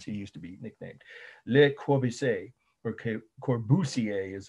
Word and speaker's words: Le Corbusier: Le Corbusier, or Corbusier is how I think it's pronounced there.